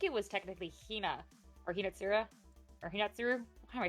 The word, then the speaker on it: Hinatsuru: so sweet because they actually, I think it was technically Hina or Hinatsura or Hinatsuru. Why am I saying her name wrong? Hinatsuru.